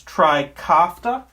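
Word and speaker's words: Trikafta: the brand name of and i'm going to mispronounce this tricofta t-r-i-k-a-f-t-a and tricofta will cure this disease it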